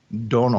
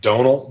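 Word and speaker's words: Domhnall: Brugge so it says his name is pronounced like tonal but with a d Donal like Donal Donal Gleason Donal because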